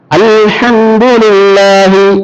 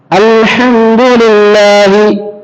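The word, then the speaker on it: الحمد لله: அர்த்தம் எல்லா புகழும் அல்லாஹ்வுக்கே அந்த ஹா உச்சரிப்பு கூட எழுத்து வரக்கூடிய வார்த்தை எழுத்து இப்படித்தான் ஓதணும் இப்படி ஓதா அல்ஹம்துலில்லாஹி ஓதுறாங்க என்ன அர்த்தம் அல்ஹம்துலில்லாஹி மரணம் அல்லாஹ்வுக்கு அல்ஹம்துலில்லாஹ் எல்லாரும் அல்லாஹ்வுக்கு அல்ஹம்துலில்லாஹி மரணமும் அல்லாஹ்வுக்கு உண்டு அப்படின்னு அர்த்தமாயிடும் அந்த பதிலாக போட்டு அந்த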